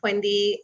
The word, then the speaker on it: Pwendy: My name is Pwendy, and I always start off by saying yes, the P is pronounced since it's such a unique first name.